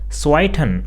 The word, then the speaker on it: zweiten: Similarly, if we have other letters such as second or fourth, then they are also pronounced as zweiten or vierten.